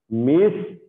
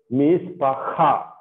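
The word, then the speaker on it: מִשְׁפָּחָה: So when we see hate, we should pronounce it from the throat. Hey, okay. So mishpakha, mishpakha, right?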